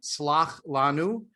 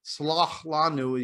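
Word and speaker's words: סְלַח לָנוּ: chet, as in like slach lanu, is pronounced just as a ch. But in Arabic style, or Arabic accented Mizrahi style Hebrew, it's a ch, it's sort of a swallowed ch.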